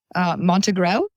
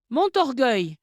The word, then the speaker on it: Montorgueil: Like the street around the corner from my apartment was lovely, and I won't say it correctly. Rue Montegreau? Montorgueil. Rue Montorgueil is what it's called, yes.